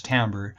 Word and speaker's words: timbre: is and then tambour this is not pronounced timbre but as Tambor and that refers to